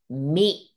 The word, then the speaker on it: み: So this one hiragana contains one pronunciation, mi.